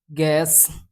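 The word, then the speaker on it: guess: जैसे यहाँ पे गॉड, गैस, गेस्ट, गिल्ड। तो इन जगह पे जो है यू आपका साइलेंट रहेगा।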